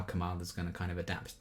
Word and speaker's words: Kamala: My name is pronounced Kamala.